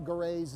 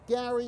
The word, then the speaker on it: Grey: proper pronunciation of Isaiah Gray's name before the game I was told that it was pronounced Gary it is indeed pronounced gray so I apologize for